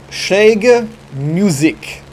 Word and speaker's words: Schräge Musik: It was armed with two 20mm cannons, two 30mm, and also a 30mm, twin 30mm Schräge Musik. I said that right. I know I said that right. I've been practicing my pronunciation.